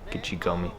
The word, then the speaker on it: Gichigami: Gichigami is how you say that in Ojibwe.